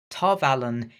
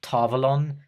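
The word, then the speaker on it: Tar Valon: considering how that character ends up number 34 tarvalen is rather disappointing to look at and yes you might be complaining about the way I'm pronouncing it and yes I know technically it's pronounced tavalon or tavolin I know the correct pronunciation I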